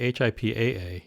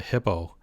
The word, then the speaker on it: HIPAA: etc so first um there's always some confusion as to hipaa it's actually hipaa you'll see it's spelled hipaa h-i-p-p-a that's not right and of course it's a hippo which is the big creature